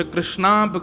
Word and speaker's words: कृष्ण: इसीलिए हम कथाओं में कहा करते हैं कि भगवान का नाम उच्चारण करना है तो कृष्ण बोलो, कृष्ण।